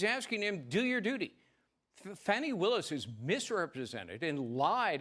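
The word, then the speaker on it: Fani: made this mistake by calling her Fannie Willis the first time I started covering this story just because I wasn't aware of how to say her name but it's it's Fanny Willis funny in an earlier filing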